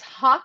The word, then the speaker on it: Haque: It's hawk, Okay. like like Hawk. like the bird hawk, and then Got it. shot. Yeah. Haque.